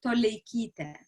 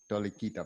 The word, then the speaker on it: Toleikyte: more time please the tricky one it's called tolekita tolikita perfect thank you so much okay so uh